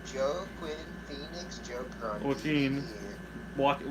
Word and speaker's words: Joaquin: up there with Joe, Quinn, Phoenix, Joker on Joaquin. TV. Joaquin, but yes. Sorry. It's spelled weird.